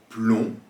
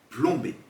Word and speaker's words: plomb: Même chose encore pour le mot plomb. Par exemple, en cherchant un mot de même famille, on peut citer plombier ou encore le verbe plomber. Vous entendez donc ici le B que vous pourrez mettre à la fin de plomb.